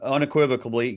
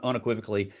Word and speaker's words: unequivocally: So um and that same same thing unequivocably you can't I mispronounced it unequivocally you cannot amend to capture more money.